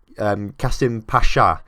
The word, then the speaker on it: Kasımpaşa: Actually, no, it's Kasımpaşa, because the little squiggle underneath the S is a sh, apparently.